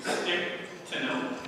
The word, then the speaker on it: Stichtenoth: If you, like me, were not aware that they pronounced her name Stichtenoth, well, then we've already learned one thing we can.